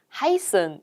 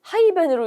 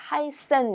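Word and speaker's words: heißen: 이렇게 생겼어요 어떻게 읽을까요 바로 하이슨 이렇게 읽는데 저게 마치 세트라고 불리는이 스펠링이 어 마치 대문자 랑 비슷해서 하이 벤으로 이렇게 읽으시는 분도 있데 그러면 안 됩니다 하이센 이고요 여행하다 동사 읽어 볼게요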